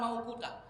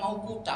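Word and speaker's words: مَوْقُوتًا: Maunya kita. Bukan mau kuta, mau kita.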